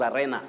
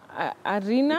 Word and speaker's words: arena: What we know as arena locally. Yes. Do you know the pronunciation? Arena? It's arena. That letter E takes the long sound E. Arena, not arena.